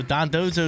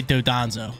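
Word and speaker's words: Dondozo: always giving me stuff we're pronouncing his name wrong I'm pretty sure I pronounce it wrong in the uh in the team preview pretty sure I said uh dodones I don't know I don't even know how to pronounce it wrong than those I say dandozo but it's uh don oh Don dozo is the name but I say dodanzo that's what I say I say dodanzo they're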